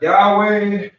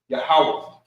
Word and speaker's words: Yahawah: So, we got the Most High's name which is pronounced, not Yahweh, not Yahoo, not Yah. Um, I've seen a lot of different variations according to the scholars in the UPK. Yahawah And I'll trust them